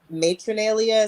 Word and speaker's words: Matronalia: this pronounced matronalia um matronalia is how I pronounce it but I mean you